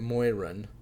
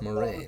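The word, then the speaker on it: Moiraine: And I realized the first time through I was also mispronouncing Moraine's name because I pronounced it Moiran, and then I realized, oh, it's Moraine.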